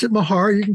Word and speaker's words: Mahar: foreign ER I pronounce it Mahar you can call me anything you want I'm